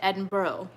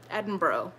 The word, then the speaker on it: Edinburgh: properly pronounce Edinburgh because somebody I think it was in my British friend said Edinboro Edinboro like that I think it might